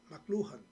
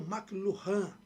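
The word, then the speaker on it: McLuhan: Eh, a pronúncia mais ou menos inglês é essa. Eh, Marchal, Marchal, McLurhan. Já alguns falam McLan. Muran, McLan. Mluan. Por quê? Porque ele é canadense.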